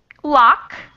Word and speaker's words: loch: And how does this does it pronounced in English? Loch.